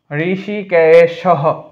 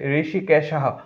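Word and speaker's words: হৃষীকেশঃ: পান চনিয়ম জফলার কারণে ইয় হয় জনিয়ম ঋষিকেশ ঋষিকেশহ ওটা বিলুপ্ত হয়ে হ উচ্চারণ হবে এ কারণে এই টানটা দিয়ে দীর্ঘস্বর বুঝসছে ঋষিকেশহ দেবদত্তম অনুস্বার থাকলে ম হয় তাই দততম এইযে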